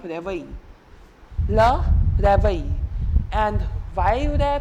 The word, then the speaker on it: réveil: Le réveil. And why rare pronunciation? Because of the accent aigu right here.